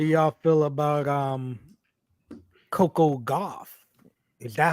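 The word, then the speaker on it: Gauff: is how do y'all feel about um Coco goth is that how you say her name golf Coco goth yep go ahead congratulations congratulations Coco yep yeah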